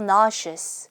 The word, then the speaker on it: nauseous: 그럴 때 I feel nauseous 시작.